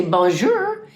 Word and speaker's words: bonjour: comes out so sometimes when I say bonjour that is not the right way to say it it's Bon the the r is not pronounced you know as hard as what I was saying anyway do you have